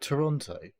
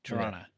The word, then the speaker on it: Toronto: Um, there is a thing that says if you really pronounce Toronto the way it should be pronounced, there's no T. You don't hear second T. Toronto.